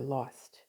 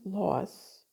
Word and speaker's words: loss: Or they say, I'm sorry for your lost with a T. When you're sorry for someone's loss, there's no T.